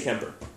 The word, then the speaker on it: Kuemper: to pronounce that improperly because there's clearly a you but they always say Kemper so hung an insistent